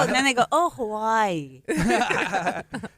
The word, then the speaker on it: Hawaii: I like how, I don't know, as the Hawaiians, that's how you say that, how they say it, like Hawaii.